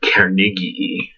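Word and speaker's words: koenigii: Morea family, specifically Morea Carnegii, or Carnegii, if you want a German pronunciation.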